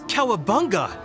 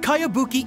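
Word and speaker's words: Kayabuki: strange name who's this cowabunga it's pronounced kaiabuki ek that would be me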